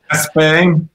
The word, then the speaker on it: Espe: We actually went all the way to Lars Gerasol to figure out how to correctly pronounce it. So he said Espe.